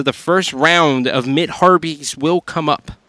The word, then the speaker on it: harpies: first round of mid haries will come up harpies is how you say that that haries bastet rotated